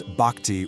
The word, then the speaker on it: bhakti: You'll hear me pronounce bhakti with a soft ba sound, and follow the journey of Arjuna.